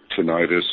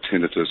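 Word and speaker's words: tinnitus: um, well, you know, he just had this this tonitis. Some people call it tinitus. I think both pronunciations are correct.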